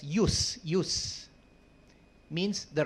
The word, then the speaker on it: jus: of the word judge jus pronounced as use use means the right